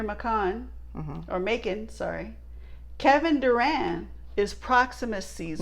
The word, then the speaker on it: Durand: Kevin Durand is Proximus Caesar. Not Kevin Durant. Kevin Durand. Durand. It sounded like Kevin Durant almost. You're like, no, it's not Kevin Durant. It's Kevin Durand.